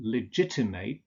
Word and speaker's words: legitimate: But when legitimate turns into an adjective, you use ut. So you say legitimate, appropriate, compassionate, separate. And again, the same goes for nouns ending in ate.